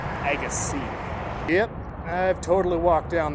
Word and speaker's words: Agassiz: aases it's it's pronounced Agy yep I've totally walked down the roads of aasai good sturgeon fish in near ogus is it's pronounced EG C The Zed is silent n man The Zed